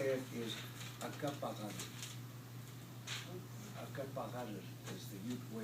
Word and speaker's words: Uncompahgre: So when a Ute was asked, "What are you?" he said, "Acapahar." So the best way he could spell it was Uncompahgre, U-N-C-O-M-P. That's the spelling for it. But if you break it up, Aka, the U-N-C-A means red, P-A-H, water, and the G-H-R-E is the vowel sound of Acapahar, means red water.